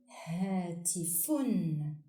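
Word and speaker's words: هاتفٌ: In its final word position, doubled dhamma on fa is pronounced fun, like in the example hatifun, which means a phone.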